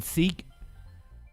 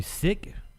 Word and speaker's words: Sikh: been saying it wrong I've been saying seek apparently sick let's hear more from